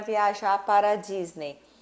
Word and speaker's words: Disney: Então, se termina com a Y, a gente fala E, certo? Disney. Só que, na verdade, quando você, né, for pronunciar, for falar alguma palavra que termine com EY, sempre você vai falar com o sonzinho do E. I. Então, é como se não tivesse o E, tá?